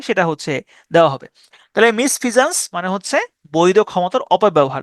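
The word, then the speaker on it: misfeasance: মিসশি এভাস ইভি ও ইউ এস তাহলে মিসশি Eva's মিসভাস মানে হচ্ছে ক্ষতিকর হারমফুল এরপরের শব্দ হচ্ছে মিসফিজানস মিসফিজানস মিসফিজানস এমইস মিস এফিয়া মিসফিয়া সানসে মিসফিয়া সন অথবা সান্স উচ্চারণ করতে পারেন সান্স মিসফিয়া সানস মিসফিজন্স মানে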